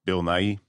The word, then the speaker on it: Nighy: I have never known how to pronounce this guy's name. Bill Nighy.